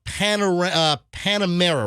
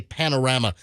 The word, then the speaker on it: Panamera: There was a brand new Porsche Panamera, right? Is that how you say it? It's not the. I always want to say Panorama. The Porsche Panorama. No, Panamera. Panamera.